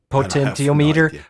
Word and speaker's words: potentiometer: Can you pronounce that? No. Potentiometer.